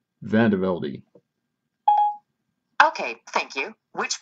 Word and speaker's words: Vandevelde: how do you pronounce the name? Vandevelde.